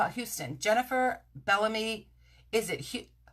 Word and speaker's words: Houston: New York City rather there's a street and it's spelled Hou sto N and you would think that it is like Houston in Texas but in New York City we